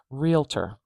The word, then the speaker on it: realtor: primary uh stress marker realtor stress is at the beginning of this one so now this is how I would say realtor but you may have heard people say it another way realtor realtor we starting with